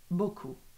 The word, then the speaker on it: beaucoup: Can you please pronounce beaucoup? And madame, thank you so much for the answer. Resham, beaucoup.